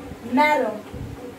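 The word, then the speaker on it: marron: Maron, maron, maron, same pronunciation, okay?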